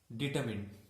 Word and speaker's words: determined: Next one is determined. Determined. Here also R is silent.